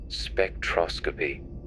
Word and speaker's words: spectroscopy: Scientists also use something called spectroscopy. Say it like spectros.